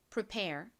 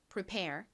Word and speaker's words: prepare: prepare. 다시 해 볼게요. 뒷부분 강조해 주세요. prepare.